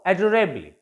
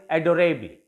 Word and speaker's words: adorably: There are also adorably. यहाँ पर this E will be pronounced a little and will be counted in case of syllable.